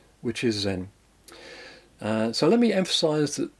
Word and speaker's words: Zen: in these countries and when Chan Buddhism goes in to Japan it's pronounced Zen now then you probably